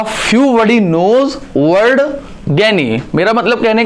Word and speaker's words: gyne: Third आता है ज्ञानी, नॉट ज्ञानी, इसका प्रोनाउंसिएशन इज ज्ञानी, GYNE, ज्ञानी का जो मतलब होता है, इसका जो सिंपल सा जो मतलब होता है, that is a means of females.